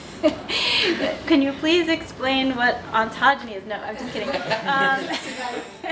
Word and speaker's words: ontogeny: So Darshana, can you please explain what ontogeny is?